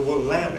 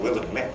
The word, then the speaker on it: Willamette: made fun of us not knowing how to pronounce the name of our own river. We called it the Willamette. It should have been Willamette, they said.